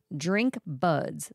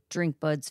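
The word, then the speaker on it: DRNQ BUDZ: Drink Buds, that's spelled DRNQ, drink, BUDZ, Buds, launched its premier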